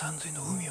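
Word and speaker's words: 鴛海: Normally it would be read as Oshiumi, but in my case, it is pronounced Shinomi.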